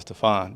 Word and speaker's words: Stephen: Again, Stephen Sullivan, I think actually he pronounces Stefan, but Sullivan was released due to an injury settlement.